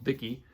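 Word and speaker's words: Fici: One story here does not have a woman as the lead, and that is a story called Vicky. That's spelled F-I-C-I, and Vicky is a dragon.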